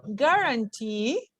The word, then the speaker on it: guarantee: And words that end in suffixes such as ear or e, stress on the final syllable, like engineer, pioneer, guarantee, foresee.